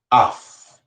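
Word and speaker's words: אף: The word for nose is the word af. Af is how you say nose in Hebrew.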